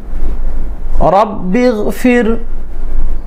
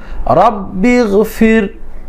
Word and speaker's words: রব্বিগফির: রব্বিগফির। দর্শক শ্রোতা, আমার সঙ্গে উচ্চারণ করে পড়বেন। র জবর বা তাসদীদ রব, বার জের গয়নে জজম, বিগ ফার জের র জজম ফির। রব্বিগফির, রব্বিগফির, রব্বিগফির।